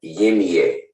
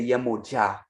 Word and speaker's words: Yemoja: You got Yimiye. All right. Now he's going to Yimiye. He's trying to say Yemoja. This is crazy. To mispronounce so many Orishas is disrespectful.